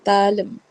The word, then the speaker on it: தாளம்: தா லாயும், தாளம். தாளம். தாளம். ஓகே, என்ன ஒரு விஷயம்னா இதுல வந்து தா அப்படின்னு சொல்லும் போது நம்ம நெடில தான் உச்சரிக்கணும்.